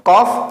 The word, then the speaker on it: Qaf: Maka tidak dibaca ko, tidak gitu. Baca seperti hurufnya. Qaf, maka dipanjangkan menjadi 3 alif. Qaf.